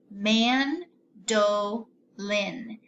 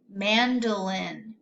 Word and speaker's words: mandolin: could try that but this is an open syllable so oh is gonna say the long sound it's named let's try it together man dough Lynn mandolin very good now I